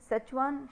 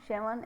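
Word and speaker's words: Schwann: दो बायोलॉजिस्ट ने, M Sheldon 1838 एंड T seven, सचवान शेवन, ऐसे कुछ प्रोनाउंसिएशन अलग अलग लोग करते हैं इनका।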